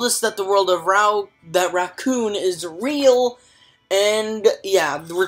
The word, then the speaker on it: Rakuen: It's called Rakuen.